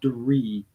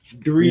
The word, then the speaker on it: Draoi: But spelled out, it's Draoi. Pronounced, it's Dree, like tree with a D though. Yeah. So yeah, Dree. Yeah, I would have said draw or Dre or something like that if I would have tried.